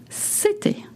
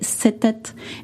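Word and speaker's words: c'était: You notice that city is spelled C apostrophe E with an accent T I T A I T. Again, please go to the website to see the exact spelling. We don't say set.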